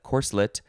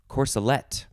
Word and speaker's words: corselet: next word is corselet that is going to be for definition one core slit and for definition two it will be corsolet it is spelled like